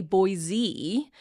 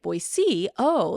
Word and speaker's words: Boise: And and I do think in Idaho like if you say Boise, you haven't been here very long, right? And once you get on to the like boy, oh that's how locals say it that that you're sort